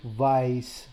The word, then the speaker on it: weiß: So basically here it says ich weiß nicht. Now the E and the I always sound like I.